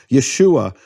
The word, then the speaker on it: Yeshua: from the emphasized syllable how do I know where this emphasized syllable is in Yeshua well because it can only be the final or second-to-last syllables only the possibilities in Hebrew you can't have yahushua